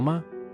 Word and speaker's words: 嗎: m Uses ko to indicate its role as a question particle, and its pronunciation is based on ma. However, the tone shifts from the third tone of ma to a lighter tone in ma.